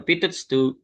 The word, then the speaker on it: Pitot: So pito pito pito pito pala yan pronunciation.